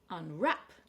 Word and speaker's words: unwrap: Unwrap. So we have a verb this time. And very often when you have a two-syllable verb, the stress is on the second syllable, especially if the first syllable is some kind of prefix like un or in. Unwrap.